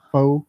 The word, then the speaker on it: faux: Fu fo faux.